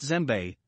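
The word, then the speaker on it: djembe: pitches six gem the west african gem pronounced zembe is one of the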